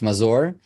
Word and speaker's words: Mazor: name Yi Is It merer Anyway he said it's fine but uh it's it's from Hebrew actually it's it's mazour Maz I say mazour but M works it's